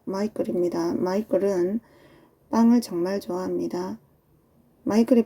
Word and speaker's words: Michael: 마이클은 미셸이라고 발음하지 않도록 주의하세요. 마이클입니다.